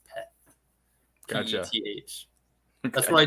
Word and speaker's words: Peth: Yeah, so the letter in P in Star Wars language is pronounced Peth.